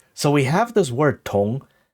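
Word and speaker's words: 铜: So this is also pronounced tong, and it means copper because the word for copper is pronounced tong.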